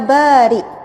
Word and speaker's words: Bari': saya selalu sebut dengan sebutan yang tepat ya Bari yaitu Hamzah ia Hamzah bukan Kav Bahkan dalam banyak ceramah dan kuliah saya Betulkan sekate ejaan kartu Ya baik itu salah yang betul adalah ya Bari untuk masuk dia beri